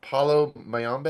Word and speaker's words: Palo Mayombe: And I'm probably gonna pronounce this incorrectly, but just this film explores Palo Mayombe.